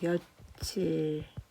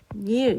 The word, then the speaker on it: 며칠: 우리가 이거를 발음을 할 때는 며칠이라고 발음을 합니다. 며칠. 근데 이 앞에 거 이제 며칠이라는 거 발음대로 적은 거고, 뒤에 거는 형태를 밝혀 적은 건데요. 이 형태를 밝혀 적을 때의 발음이 며칠이 아니라 요 형태를 밝혔을 때는 발음이 분석이 되면서 두 개가 합쳐진 거니까 일 그리고 발음이 어떻게 되면 면일 이렇게 발음이 됩니다.